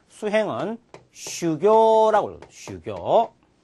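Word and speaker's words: 修行: 무엇을 수행하다 할 때 수행은 슈교라고 해요. 슈교. 그 다음에 흥행. 흥행은 코교라고 읽을 수가 있습니다.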